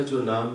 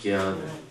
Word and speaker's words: ज्ञान: पता नहीं है लेकिन उत्तर भारत में लोग जन शब्द नहीं बोलते वो क्या बोलते हैं ज्ञान आपका मुझे पता नहीं यहां पर भी ऐसा बोलते हैं ज्ञान बोलते हैं तो संस्कृत के अनुसार वास्तविक उच्चारण क्या है ज्ञान जन तो हम लोग इस